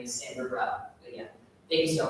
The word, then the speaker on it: Samvrit Rao: on LinkedIn as well, saying my name is Samvrit Rao.